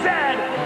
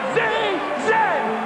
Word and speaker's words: zed: A toque is a hat, a Chesterfield is a coach, and it is pronounced Zed, not Z-Z.